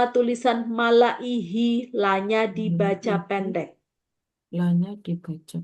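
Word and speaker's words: مَلَئِهِۦ: Dopnya gini, ada ini panjang, malaihi gitu ya. Kalau di situ pakai apa Bu tandanya? Kasroh panjang ya? Panjang ya, Iya. Ya. Ya, jadi bacanya kayak gitu. Semua tulisan malaihi, hi-nya panjang. La-nya dibaca pendek.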